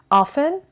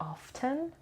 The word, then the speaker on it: often: cantonese frequently generally repeatedly often or often both pronunciations are correct sometimes occasionally rarely and